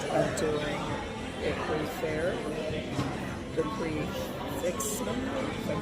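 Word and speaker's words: prix fixe: By the way, it's pronounced prefix, like prefix. It's just prefix, so I was making it way more complicated.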